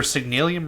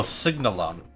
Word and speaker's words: Signalum: I remember Signalium requiring platinum. Oh, Signalum. I've just been mispronouncing it for 8 years. Signalium is how I've been pronouncing because IUM sounds more aesthetically pleasing to me.